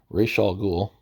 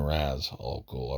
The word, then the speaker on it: Ra's al Ghul: I've heard it pronounced a bunch of different ways. Even Raz al Ghul, I've even heard that. That one doesn't sound quite right because I wouldn't, if it was Raz or Ras, I wouldn't put the apostrophe. I wouldn't think you'd need the apostrophe to pronounce it at that point.